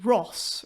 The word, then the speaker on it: Rus: we should say that they were initially referred to as r-h-o-s so maybe it should be pronounced ross rather than ruse but uh it's